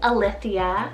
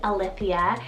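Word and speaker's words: Alythia: here on the list i have the name a lithia spell a l y t h i a a lithia and this one means verity or true then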